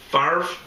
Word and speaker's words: Favre: Why can't I pronounce his name? Bet Favre? Favre? Favre? It's not Favre, it's Favre.